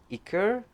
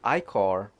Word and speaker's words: Ichor: Some say Ichor, some say Ichor.